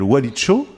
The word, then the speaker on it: Walicho: Et merci d'être avec nous à l'occasion de la sortie de ta nouvelle bande dessinée qui s'appelle Walicho. Oui. Je le prononce bien? Oui.